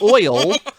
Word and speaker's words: oil: Well, now, from uneducated British brain to a sophisticated British tongue and pronunciation, is the word oil one syllable or two? Oh, one. Oil.